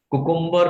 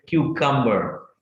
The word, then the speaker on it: cucumber: काफी सारे लोग इसको मिसप्रोनाउंस करते हैं. Please don't do सो. कुकुम्बर नहीं बोलना है आपको इसको. आप हमेशा बोलेंगे क्यूकम्बर. क्यूकम्बर. तीन पार्ट में इसको डिवाइड कर दीजिएगा. क्यूकम्बर. This is नॉट कुकुम्बर.